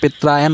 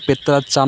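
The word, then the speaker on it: Petrarchan: অনেকে পেত্রায়ান উচ্চারণ করে, অনেকে পেত্রাচান উচ্চারণ করে, তোমাদের যেটা সুবিধা হয় মনে রাখবা, মনে রাখা নিয়ে কথা, ঠিক আছে।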